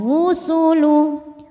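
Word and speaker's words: الرسل: Wa idzar rusulu, huruf ra dibunyikan secara tafkhim karena harokatnya dhammah. Cara membacanya tebal, pangkal lidah naik.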